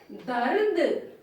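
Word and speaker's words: दर्द: See, half ra is there. So it is on top of the letter. But in pronunciation it will come before the. So we will say dard.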